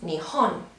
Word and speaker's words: 日本: In Japanese, you will write it the same, but the pronunciation is Nihon.